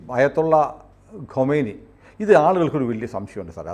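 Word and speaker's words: خمینی: അങ്ങനെയാണ് നമ്മുടെ ഈ അയത്തുള്ള ഖൊമൈനി. ഇത് ആളുകൾക്കൊരു വലിയ സംശയമുണ്ട് സാറേ, അതൊരു ക്ലാരിഫൈ ചെയ്തിട്ട് പറയാം. നമ്മൾ ഈ ഖൊമൈനി എന്നൊക്കെ പറയുന്നതൊക്കെ തമ്മിൽ ചില വ്യത്യാസങ്ങളുണ്ട്. നമുക്കിത് പരിചയമുള്ള പേരുകളല്ലോ. യഥാർത്ഥത്തിൽ ഈ ഖമേനി ഇപ്പോഴത്തെ ആള് ഖമനേയി ആണ് അല്ലേ?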